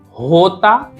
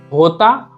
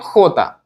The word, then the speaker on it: jota: And K sounds like Ka, L sounds like L, L, G is G, H is H, J is hota, hota, or also you can say hota.